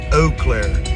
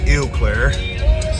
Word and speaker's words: Eau Claire: the houses so apparently according to my GPS it's Eau Claire not Eau Claire my southern ass pronounces things very literally the city of Eau